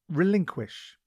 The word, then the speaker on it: relinquish: time today's word is relinquish it is pronounced relink quish and is spelled r